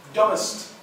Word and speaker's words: dumbest: Pronunciation of these are Dumbest. Dumb. B's mute. B's mute.